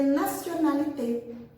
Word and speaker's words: nationalité: vocês, falando sobre les nationalités. Les nationalités. Repetez. Les nationalités. Interessante essa palavra, né? Nationalité, porque ela tem um T que a gente pronuncia como C, né?